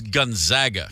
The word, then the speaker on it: Gonzaga: I I everyone goes every broadcaster says one or the other and it is Gonzaga correct yep yeah the ones